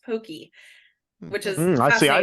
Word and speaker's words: Pocky: or something like that it's not pronounced Pocky it's pronounced Pokey which is I see